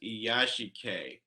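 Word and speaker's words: 癒し系: He says he finds he it asked interesting that Murakami's writing is frequently characterized as iyashikei, IYASHI-KEI.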